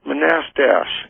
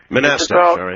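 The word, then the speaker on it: Manastash: Yeah, it's pronounced Manastach. Figures. Manastach.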